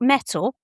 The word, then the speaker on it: Mettle: I've got Mettle which is part of NatWest and the Royal Bank of Scotland and it's spelled m e t t l e and that comes with free accounting software.